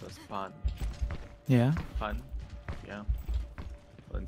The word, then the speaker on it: pan: Did you know that in Japanese bread is pronounced as pan?